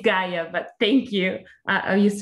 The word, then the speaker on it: Gaia: Yeah, you pronounce very Dutchy, but it's Gaia, but thank you.